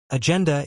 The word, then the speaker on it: agenda: Agenda is pronounced /den.d/, stressing that second syllable. Lots of learners put the stress on the first syllable, which sounds a bit off.